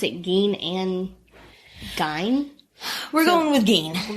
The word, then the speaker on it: Gein: Edward Theodore Gein, which I'll point out is, people pronounce it Gein and Gein.